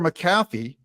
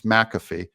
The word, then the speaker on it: McAfee: Supreme Court Days Later maffy McAfee sorry I've had you guys correct me on the pronunciation of his name that it's McAfee and I I I